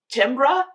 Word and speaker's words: Timbre: It is spelled like Timbre, but it's pronounced Timbre.